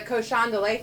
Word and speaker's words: cochon de lait: So I heard there's a Cochon de Lait festival here. In A cochon de lait? Yeah. You got to pronounce it right.